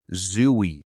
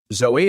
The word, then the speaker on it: Zooey: Is it Zoe or Zooey? Because I've heard it as both. Pretty sure she pronounces it Zoe Deschanel.